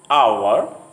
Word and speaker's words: hour: In some words, the H sound at the beginning often is not pronounced. For example, honor, hour, honest.